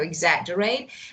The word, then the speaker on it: exaggerate: So you need to pronounce G. So exaggerate.